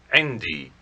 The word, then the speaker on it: عندي: عندي. عندي. It is made up of the adverb عند and the attached pronoun for I, or my, pronounced e.